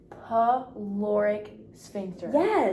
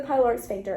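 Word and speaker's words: pyloric sphincter: get pushed through the p pic Spiner did I say it right almost oh darn it you were close it's going to get pushed into the pyloric through the pyloric spinter into the duum oh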